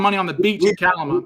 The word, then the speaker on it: Kalama: A family found money on the beach in Kalama. We locals out here pronounce it Kalama. Kalama. Okay, there we go. Kalama. Thank you. like a calamity.